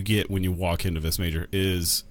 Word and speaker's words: Vis Major: Like I just love how you pronounce it. Vis Major.